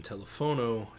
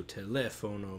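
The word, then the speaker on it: teléfono: For example, in telefono, telephone, the second E has the most stress. So telefono, maybe.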